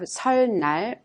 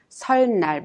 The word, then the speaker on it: 설날: We do not pronounce 설날, but 설날 instead. Because of the final consonant 를 in the first syllable 설, the consonant 는 in the second syllable tends to be pronounced in the same sound, 를. So you pronounce it 설날.